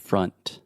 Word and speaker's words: front: So again, this is the schwa sound, fra, and then you have that final N sound. So the tip of your tongue is touching the roof of your mouth.